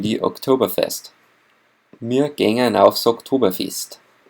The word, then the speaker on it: Oktoberfest: Please be careful with the pronunciation of Oktoberfest. It's not October, it's October. And it's not, it's fest instead of fest. It's quite the reverse. Oktoberfest in English and Oktoberfest in Bavarian.